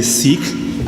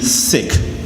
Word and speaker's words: Sikh: My name is Singh, and I am a Sikh. That is actually the right way to pronounce the name of my religion, even though a lot of people would say Sikh. It's really Sikh.